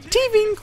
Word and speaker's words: Tving: And yes, you have to pronounce it like that. I looked up a Korean commercial for Tving, and they only said it in the most adorable ways possible, so that's how I'm going to do it.